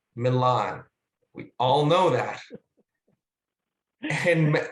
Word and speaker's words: Milan: all know that and a lot of us might know that the italians call it milano but for the shake to make it scan it has to be pronounced millen and any time anyone said